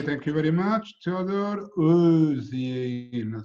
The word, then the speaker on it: Özyeğin: Özyeğin. So the G is not pronounced; it's mute G, let's say.